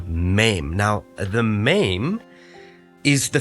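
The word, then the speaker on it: מם: on the shape the letter mem is pronounced as M okay it's the M sound maim now maim has two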